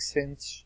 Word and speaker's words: sinh: It says, evaluate the hyperbolic sinh, that's how you pronounce it, sinh of x, cosh of x.